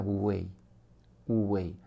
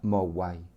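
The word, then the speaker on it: 無為: Lo voy a decir en mandarín, se pronuncia wu wei, y en cantonés, que es la lengua que yo conozco un poquitín, se pronuncia mo wai.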